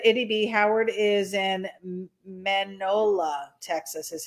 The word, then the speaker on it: Mineola: The McCoys said, ity-B, Howard is in Manola, Texas, is how you pronounce it. Mineola? Manola. She said Manola. So Manhai? I thought it was Mineola.